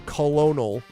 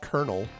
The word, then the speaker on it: colonel: Or don't get me started on colonel, which is colonel, apparently. Blame the French.